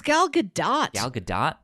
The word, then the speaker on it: Gal Gadot: say her name uh well not gayle it's uh gal gadot yeah i think it's gal gadot i'm i think everybody thinks it's supposed to be a silent t but it is in